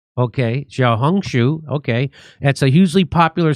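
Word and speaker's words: 小红书: Xiaohongshu. Okay, Xiaohongshu.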